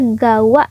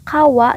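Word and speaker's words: 川: Nah, untuk menyebutkan nama sungai, itu biasanya dibacanya gawa ya minasang. Misalnya sungai Cikapundung, berarti Cikapundung gawa. Seperti itu. Nah, di sini kunyomi-nya bisa kawa, bisa juga gawa. Onyomi-nya seng.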